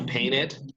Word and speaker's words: painted: I painted my house. Very good. Little parenthesis here. En este caso, sí, como bien lo pronunciaron ahí, sí tiene que sonar la E del ED, ¿no es cierto?